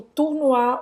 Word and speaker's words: tournoi: E o tournoi, o OU tem som de U. E no final, o OI tem som de Wa. Wa. Le tournoi.